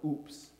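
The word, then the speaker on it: Aups: Kennedy, anchored in Marseille, France, a small contingent was invited to come to the town of Oops, France. Oops is in I fell, is how it's pronounced.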